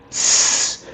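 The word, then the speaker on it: dix: It's not sounding like six. It's sounding like sis this.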